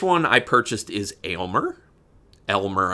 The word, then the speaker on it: Elmer: I purchased is Elmer Elmer I know people say but it's spelled a y lme Elmer from brain damage the